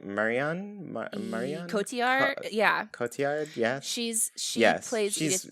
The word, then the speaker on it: Cotillard: Oh, how do you pronounce her name? Marianne? Marianne? Cotillard? Yeah. Cotillard, yeah.